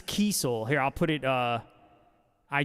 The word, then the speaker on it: Kiesel: It's actually pronounced, it's Kiesel.